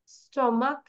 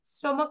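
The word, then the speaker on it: stomach: সিএইচ টা ক হয়ে যাচ্ছে ক্যা মনাক মনাক্স স্টমাক স্টমাকস স্টমাক মানে কি পাকস্থলী না তাহলে বলো মনাক মনাক্স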